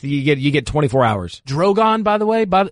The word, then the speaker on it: Drogon: Drogon, by the way. There are 3 dragons, and one of their names is literally Dragon. It's just what is that? It's got an emphasis on the other syllable.